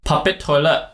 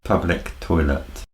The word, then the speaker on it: public toilet: forward to in malaysia will say puppet toilet puppet toilet then how would you say it correctly for this phrase public toilet wow why not puppet toilet because it's not england